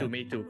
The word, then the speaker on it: Meitu: How to pronounce? Yeah. Meitu, correct.